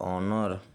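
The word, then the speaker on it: honor: यदि किसी वर्ड में यच के बाद ओ हो तो यच साइलेंट हो जाता है।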